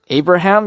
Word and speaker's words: Abraham: So think of it, if you break it down into 3 syllables, it'll be A, bruh, ham.